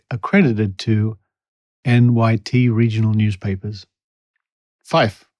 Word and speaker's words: Fyffe: Fife, and that's spelled Fyffe.